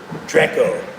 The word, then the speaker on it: Drakeo: it downtown Mac aka Draco is his name. D R E Ko, not to be confused with Draco the ruler, but his name Draco also, right? Spelled differently, pronounced slightly differently, but you get the gist.